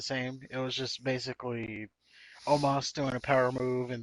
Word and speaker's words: Omos: We got Braun Strowman versus Osmo. Oh, how do you say his name? Omos.